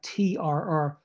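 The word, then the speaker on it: trr: So you can have a word like K-L-L, gl, there's no vowel there, gl, which means ground, and word like T-R-R, tr, which means day.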